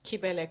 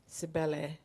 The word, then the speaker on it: Kibele: And my Instagram handle is Kibele Comedy. However, English people read as Sibele Comedy. And With a C.